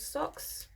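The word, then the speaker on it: Sox: I've got a black cat called Socks.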